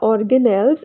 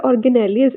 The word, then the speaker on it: organelles: This is known as the organelles in the British English and organelles in the American English. So you can pronounce it in the both ways, organelles or organelles.